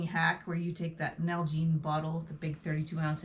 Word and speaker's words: Nalgene: them spell it because when you told me the first time it's like an algae bottle why do you want an algae bottle n-a-l-g-e-n-e nalgene nalgene yes and they're really